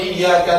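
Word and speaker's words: إياك: Atau contoh yang lain, pada lafaz iyyaka na'budu wa iyyaka nasta'in, di situ iyyaka itu ada tasydidnya. Tasydid itu cara bacanya harus ditekan, wong double.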